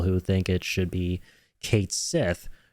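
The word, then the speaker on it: Cait Sith: think it should be Kate Sith right um especially since I think not long ago squarex themselves came out and said that it's actually going to be pronounced Kate Sith right so the whole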